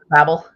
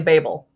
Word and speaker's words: Babel: which I love about everyone is really confused how to pronounce it when like if they pronounce it both ways in the book it's pretty funny that way Babble because they're babblers but they go to Babel but it's definitely Babel so yeah I am